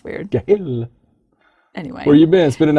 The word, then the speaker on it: Gil: I don't even know how to say his name, Gil Kenan. Right. I was going to say Jill, but I don't think that would be correct.